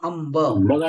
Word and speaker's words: अंब: ठीक आहे धन्यवाद अंब अंब शब्द आहे अंब अंब इथे उच्चारण कसं करतो आपण अंब का बरं कारण की ब हा कोणत्या वर्गातील आहे प वर्गातील आहे आणि प वर्गातील अनुनासिक व्यंजन कोणता आहे तर प फ ब भ मन अंब संचय संचय आता